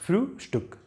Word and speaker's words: Frühstück: Frühstück. So you give a pause here. And this ST, you should pronounce it as it is. No sh here, but st. ST, st. Frühstück, not Frühstück, Frühstück.